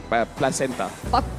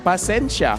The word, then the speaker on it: pasensya: Placenta. Salah. Bukan Pasensya. Pasensya.